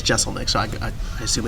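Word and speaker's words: Jeselnik: a couple different ways I thought it was jezel Nick for a long time and but he says Jessel Nick so I I assume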